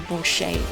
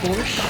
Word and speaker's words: borscht: Do you not pronounce the T at the end of borscht? Borscht? I don't know, actually. Now, maybe I have been saying it wrong. Borscht? Borscht? I feel like it's borscht, but it could be incorrectly.